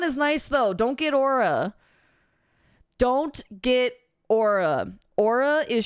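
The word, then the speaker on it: Oura: No, it's like Aura. I think it's pronounced Aura. I say Aura or Aura.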